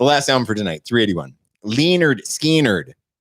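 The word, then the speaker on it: Lynyrd Skynyrd: album for tonight 381 leonard skeenard pronounced leonard skinner from the next one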